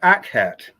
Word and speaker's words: Akhet: Whereas the word Akhet is made up of two syllables, the first being Ak, A-K-H, which refers to the